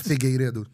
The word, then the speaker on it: Figueiredo: And we also have Paulo Figueiredo. It's hard. It's Figueiredo.